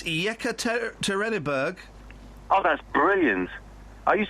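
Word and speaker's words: Yekaterinburg: first I want to hear what what's the pronunciation of that Russian town oh for crying out loud it's yeka terberg oh that's brilliant are youed have a friend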